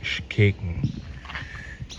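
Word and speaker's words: Xkekén: Ich habe es vorhin falsch ausgesprochen, das heißt Schkeken.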